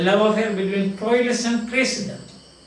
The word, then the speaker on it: Cressida: He was entrusted with the duty, and he manages to get back Cressida, the love affair between Troilus and Cressida. The pronunciation is Cressida. Troilus and Cressida.